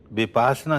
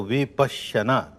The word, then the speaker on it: विपश्यना: विपासना कहना बिल्कुल गलत है। संस्कृत में समझे तो विपश्यना, पश्यना कहते हैं देखने को, विपश्यना विशेष रूप से